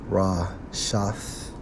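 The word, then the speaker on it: רשת: When we focus on net in the Hebrew, Strong's H 7568, pronounced as Rashath, which means what?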